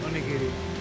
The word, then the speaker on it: onigiri: I have no idea how you're supposed to pronounce that. Onigiri? I don't know. Onigiri. Onigiri? Oh yeah, onigiri.